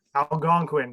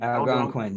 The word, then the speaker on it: Algonquin: Algonquin. Algonquin.